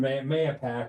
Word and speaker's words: Mahopac: well, first of all, there's more than one Mayapack or Mahopack. I say Mayapack, and All right, Mayapack. yeah, so I say Mayapack.